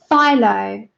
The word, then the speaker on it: Phthalo: Phthalo blue. Is that right? Am I saying it right this time? Philo.